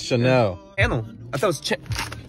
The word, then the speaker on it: Chanel: See both eyes like channel. See both eyes like channel. Bruh, it's Chanel.